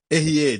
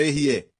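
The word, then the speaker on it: אהיה: Erier, diga Erier. Eu sou. É pronunciado assim, escrito dessa forma. Certo? A, Aleph, Rei, Yud, Rei.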